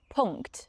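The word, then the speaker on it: Punkt: the NK correctly here the German NK or so-called Ang loud is a nasal sound and it's produced by placing the back of the tongue against the soft pellet and letting air flow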